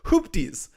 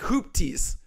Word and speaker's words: Hoopties: I read it different it's pronounced like hoopties like hoopties it's a hoopties oh not a hoop ties ruthless cutie thank you